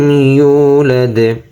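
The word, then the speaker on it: يُولَدْ: ইয়া পেশ ইউ, ইউ। ওয়াওতে Mughal হবে ইউ। লাম দাল জবর লাদ, ইউলাদ ইউলাদ।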